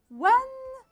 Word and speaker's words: when: When هون الـ H ما بلفظها.